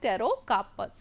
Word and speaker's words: Pterocarpus: name for that is pterocarpus. Okay. Here the P is silent, it is pterocarpus.